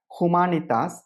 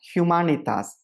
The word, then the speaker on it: Humanitas: 2 வகையில் சொல்லலாம். ஒன்று மாக்னிஃபிகா ஹுமானிட்டாஸ், இது கிளாசிக்கல் லாட்டின். 2வது மாக்னிஃபிகா ஹியூமானிட்டாஸ், இதான் எக்லேசியாஸ்டிக்கல் லாட்டின். அதில் அந்த ஊ என்ற சொல், ஊ என்ற எழுத்தானது ஹியூ என்று வரையறுக்கப்படுகிறது. அப்போ மாக்னிஃபிகா ஹியூமானிட்டாஸ் என்று நாம் எடுத்துக்கொள்வோம்.